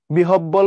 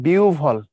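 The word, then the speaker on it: বিহ্বল: জিএসটি খর question 20 বিহব্বল বলতে কোন কথা নাই বিউবল সহজ কথা এটা বিহব্বল বলতে বাংলা ভাষায় কোন শব্দই নাই উচ্চারণের ক্ষেত্রে বিউবল হবে বিউবল তাইলে দেখো বিউবল একটাই আছে বিউবল এটা হবে না কারণ বিউব বলল দুইবার ডাবল হয়ে গেছে এটা হবে না বিউবল হবে খুলনার কোশ্চেন ইউনিভার্সিটি বাংলাদেশে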